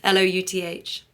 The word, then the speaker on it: Louth: and then Louth, like mouth, Louth.